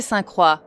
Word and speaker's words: Saint-Croix: It is pronounced Circuit de Saint-Croix.